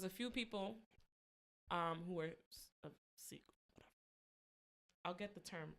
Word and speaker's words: Sikh: Is it Sheik. Sikh? Sikh. Alright. Sikh.